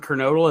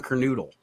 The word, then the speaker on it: Kernodle: There isn't a definitive pronunciation of his name because half the wrestlers would say Don Kernodle and the other half would say Don Kernoodle.